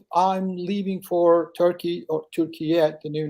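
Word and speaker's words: Türkiye: Yeah, if you could do the call from Turkey next week, or Turkiyet, is that what you called it?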